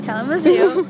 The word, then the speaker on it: Kalamazoo: Yes, Kalamazoo, Michigan, on the farm.